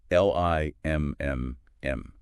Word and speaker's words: limn: The N is silent. Completely silent.